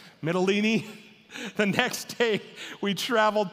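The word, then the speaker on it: Mytilene: we traveled together to mitalini it's kind of like tortellini that's the only way I remembered how to say it midolini the next day we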